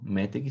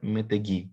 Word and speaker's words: meteg: Então, a regra nossa no hebraico é justamente que a tonicidade está na última consoante, então não é metegi, né? É meteg.